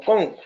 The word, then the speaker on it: Kuhn: Hay un señor Kuhn, es un señor estadounidense, sí, es estadounidense, que Kuhn o Kohn, creo que lo pronuncian como Kohn.